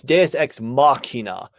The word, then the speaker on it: deus ex machina: It's Deus Ex Machina. There's a K sound in the Machina. It's a CH, but it makes a K.